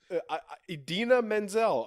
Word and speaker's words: Idina Menzel: name well I mean it's it's a unique name but if you read it is read phonetically yeah idina menzel okay that's how you